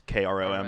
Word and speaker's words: Chrome: out chromeganda on instagram it's pronounced like google chrome but it's krom because it's sick uh i wanna i